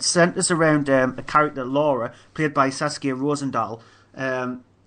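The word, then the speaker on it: Lore: it's actually written as law but it's actually pronounced as Laura um it's uh directed by K shortland who's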